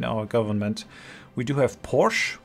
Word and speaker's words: Porsche: government we do have Porsche um or Porsche uh if you want to pronounce it correctly as our tank design